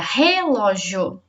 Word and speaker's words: relógio: falamos a palavra e se for her a sílaba mais forte fica relógio se for o ló tá relógio se for